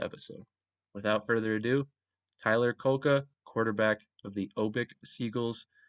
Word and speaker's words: Kulka: I am joined by quarterback Tyler Kulka. Did I pronounce that correctly?